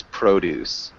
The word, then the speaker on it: produce: of items um so the first thing I saw was produce produce yeah so it's different than the verb to produce um so verb it sounds like ju like that and so